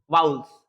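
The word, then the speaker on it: vowels: जैसे मान लीजिए यहाँ पे मैं लिख दिया ए, तो आप भावेल्स नहीं पढ़ोगे, इसको वाउल्स।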